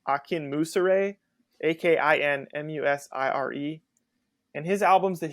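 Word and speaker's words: Akinmusire: pronounce his last name I think it's like Akin Musa Ray ak-i-n-m-u-s-i-r-e and his albums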